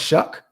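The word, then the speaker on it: Shough: definitely a sleeper Kino shuck is pronounced shuck Tyler shuck [ __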